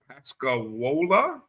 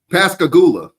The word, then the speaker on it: Pascagoula: Pascagoula. Did I say that right? You got me on that one. Spell it. Pascagoula. Pascagoula. Pascagoula. Okay. All right. I was down on the Gulf Coast. I was off a syllable.